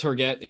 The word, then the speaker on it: Herget: How do you pronounce it? Jimmy Herget. Yeah, it's Herget.